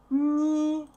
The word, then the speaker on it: него: Memorize this correct pronunciation. У него. We write go, but we say во.